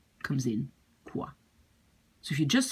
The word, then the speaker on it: quoi: The OI in French is pronounced like wa.